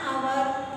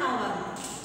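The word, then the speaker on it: hour: An orange, an egg, an our, an honest person. Here the letter is H, but H is silent here. So we say an our, an honest person.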